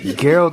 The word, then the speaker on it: Geralt: Geralt of Rivia. I was about to say, I know you saying it wrong. I was like, no, that ain't how his name's pronounced. It's Geralt.